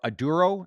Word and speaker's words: Aduro: need okay and uh correction it's aduro aduro is I think it's how you pronounce the actual name of the company yeah I believe it's aduro Yeah aduro clean Technologies